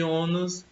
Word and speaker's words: ônus: E ônus é uma palavra, nós temos aqui duas sílabas, né? De sílabo. E a sílaba tônica é o O, a sílaba pronunciada com mais força.